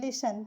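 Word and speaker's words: listen: एल आई एस टी ई एन लिसन। लिसन का मतलब सुनना होता है। देखिए टी इसमें साइलेंट है जिसे पढ़ा नहीं जाता। लिसन ठीक है?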